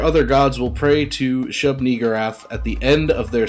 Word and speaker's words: Shub-Niggurath: It's Shub-Niggurath. Shub-Niggurath? Yes. Okay.